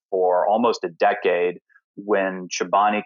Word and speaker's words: Chobani: a lot of people didn't even know how to pronounce the name a lot of people called it kobani so I was really